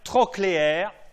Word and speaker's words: trochléaire: Le 4, c'est le nerf trochléaire. Trochléaire, comme ça se prononce, T-R-O-C-H-L-E-A-I-R-E, nerf trochléaire.